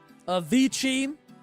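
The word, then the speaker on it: Avicii: Avichi. Now it sounds like I want to say like cevichi lettuce wraps or something. That's how it's pronounced in case you were curious.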